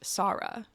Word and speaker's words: Sara: the audio book the main character's name is pronounced Sara which I like I it's spelled S